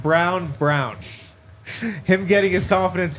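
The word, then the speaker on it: Braun: do I love Christian it's pronounced brown brown him getting his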